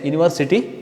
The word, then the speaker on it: university: U, this is a vowel actually but it pronounced like y.